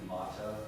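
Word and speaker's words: Matta: For your information, the Arizona Secretary of State has a gentleman by the name of Ken Mata. That last name is spelled M-A-T-T-A.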